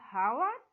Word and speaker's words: hour: So H is silent here in every word before, though it starts with H, but it sounds like vowel, not H is silent here, not with the consonant.